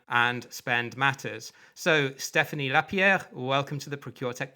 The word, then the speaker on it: Stephany Lapierre: such as Gartner and and spend matters so Stephanie lapier welcome to the procure Tech podcast thank you for having me and pronouncing my name correctly thank you well yeah